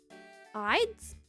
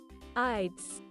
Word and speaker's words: Ides: It will be the ids. Ides of March. I've never used that word in a sentence before. pronunciation pronounced as ides.